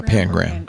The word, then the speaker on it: Pangram: Is it Pangram? Yeah, Pangram.